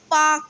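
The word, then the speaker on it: Palk: का क्या नाम है पार्क स्टेट एल साइलेंट है पार्क स्ट्रीट पॉलिटिकल एंड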